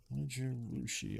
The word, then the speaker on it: Zojirushi: I don't know that we're gonna have good luck doing this, but Zojirushi, it is pronounced Zojirushi. I believe that's how it's pronounced.